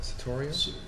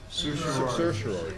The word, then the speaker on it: certiorari: introduced the following resolution to wit, whereas Siland Commercial LLC commenced a tax, I don't know how you pronounce that, Satoria? Certiorari.